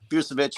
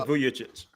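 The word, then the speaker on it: Vujačić: Price and that is definitely tempting but Sasha buevich is still available and since he carried Kobe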